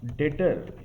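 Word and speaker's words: debtor: इट कर्ज ट एंड डेटर से बना है डेटर word डेटर means one who gives depth that person इ कॉल्ड डेटर यहां पर बी साइलेंट रहता है एंड वेलफेयर वी कैन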